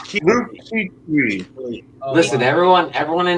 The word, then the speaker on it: Kuechly: think I Steve thought it was Keeley. I've been pronouncing his name Luke Keeley. It's Keith. Luke Kuechly.